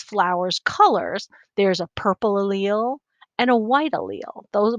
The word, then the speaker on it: allele: a very specific thing it's an allele and that's how you say it allele i know it looks like a lele but it's not it's allele and that's a recipe